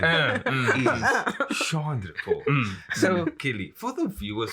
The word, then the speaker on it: Chandrapaul: But the pronunciation is Chandrapaul.